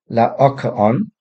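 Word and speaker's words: Laocoön: So I pronounce this Lacoon. Strictly speaking, it should be Laocoon. Don't worry too much about that, just in case you're interested. This is a reference to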